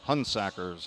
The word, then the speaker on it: Hunsaker: flash number 30 Brandon hunsaker hun sackers how they pronounce it from Saginaw Valley State